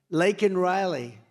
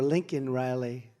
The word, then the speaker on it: Laken Riley: Laken Riley, and you know, Biden was unable to pronounce her name. Called her Lincoln Riley, and this was right after.